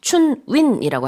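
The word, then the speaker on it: 春运: 기간, 특별 운송 기간인 춘윈이라고 합니다. 이제 중국식 발음으로 봄 춘자 아까 Spring Festival, 그다음에 이제 운송 운자 넣어 가지고 춘윈이라고 하더라고요.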